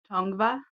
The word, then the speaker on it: Tongva: land I'm settled on and I believe it's pronounced I feel like I'm going to buture this uh tongva t o n g v a um it